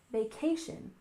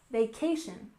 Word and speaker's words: vacation: Stress the second syllable, vacation, vacation. This is when you have